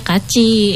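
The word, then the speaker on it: 같이: Tulisannya benar kati. Tapi baca kaci itu namanya sistem apa menulisnya sistem apa ya?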